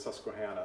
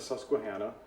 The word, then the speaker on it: Susquehanna: The river, one of the rivers that runs through Philadelphia is and I grew up hearing it as Susquehanna, so that's how I'm going to pronounce it.